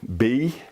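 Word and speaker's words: בד: The Hebrew word for alone is spelled B-A-D. It's pronounced bad. Normally it would be bald or have a W sound in it.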